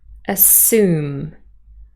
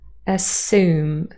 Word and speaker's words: assume: on the table but in American General American pronunciation with yacht dropping it would be assume assume so the year sound has disappeared again however you're dropping only